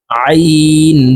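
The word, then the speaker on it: عين: আইন দুই জের আইন হলুকের মধ্যখান থেকে চাপ দিয়ে আইন হরফ উচ্চারণ হবে আইন দুই জের আইন গাইন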